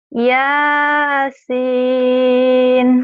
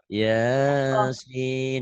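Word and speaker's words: يس: Yang ini Yasin. jangan satu alif. Yasin, jangan kepanjangan kan satu alif. Ini 3 alif ya.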